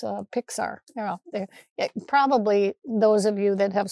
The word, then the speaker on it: Pixar: They're a Disney Plexar. Let's see, how do you say that? It's Pixar.